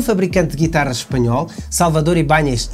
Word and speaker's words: Ibáñez: A sua origem, e daí o nome Ibáñez, do país de nossos hermanos, por isso é que eu pronuncio Ibáñez.